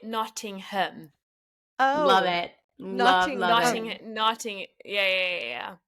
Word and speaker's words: Nottingham: nothingham nodding him okay the American version is notingham but it's you actually pronounce it noting him oh love itting Notting